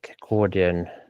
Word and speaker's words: accordion: Let's see the them the pronation of the accordion. Accordion. Yeah. The position pronunciation accordion.